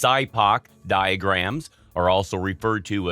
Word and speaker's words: SIPOC: end prior to implementation sipoc pronounced sidepac diagrams are also referred